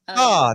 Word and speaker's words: Leviosa: But I was saying it wrong, It's Yeah. Leviosa, not Leviosa.